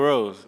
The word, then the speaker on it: Rose: Yeah, it's Rose. Just Rose. Just Rose.